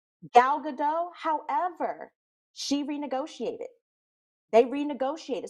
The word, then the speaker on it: Gal Gadot: woman with how do you say her name gail gadot gal gadot however she renegotiated they renegotiated so she got